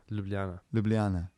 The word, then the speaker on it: Ljubljana: capital um i i can't pronounce that for um i'm going to i'm going to try giblance that's the capital of slavery ljubljana ljubljana okay sorry to last slovenian listeners um found